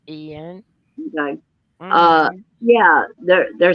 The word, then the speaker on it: Ian: It's spelled with an I, but it's pronounced Ian.